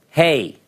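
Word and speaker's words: ה: the chart next letter hey hey it's like hey like hey alright it has an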